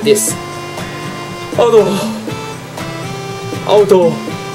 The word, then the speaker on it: 아 더워: Auto. Auto. Auto. Like that. All time. When you want to say it's so hot in Korean, it goes like this. Auto. Auto. Auto. Auto.